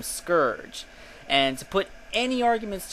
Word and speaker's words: Scourge: Um, suffice to say, I spoke to Ian Flynn and the other creators of the comic, and they pronounce his name Scourge.